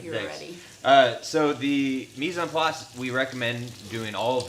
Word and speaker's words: mise en place: M-I-S-E, mise. Mise. And then there's a space, and it's E-N, on. And then place, which is like place. It's spelled like place, but it's French.